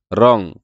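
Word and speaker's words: wrong: এর উচ্চারণ হয় না রং কারণ এটা ডব্লিউ এর উচ্চারণ হয় না ব্রিজ কারণ এটা ডি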